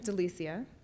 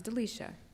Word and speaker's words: Delicia: to treat you so my name is Delicia it's often mispronounced as delecia which makes sense because it spelled that way I will always correct